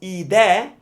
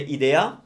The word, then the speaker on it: idea: Being the E right before the open vowel, just for articulation, it's a lot easier to open up the E as well. So it's idea. That way it's easier to pronounce the A.